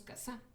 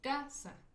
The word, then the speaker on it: casa: No decimos casá, decimos casa.